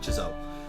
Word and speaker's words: Chzo: So it's like CH and then Zo. That's how it's supposed to be, just like Chzo.